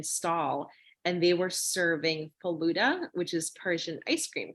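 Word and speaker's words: falooda: And so there was this one Persian stall, and they were serving faluda, which is Persian ice cream, correct?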